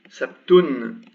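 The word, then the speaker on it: سبت: you write like this, it's very common not to pronounce it. So you pronounce it sabt, sabt, which is actually this.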